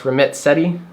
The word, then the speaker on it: Ramit Sethi: So in researching this, I think his name is pronounced Ramit Sethi, has an article about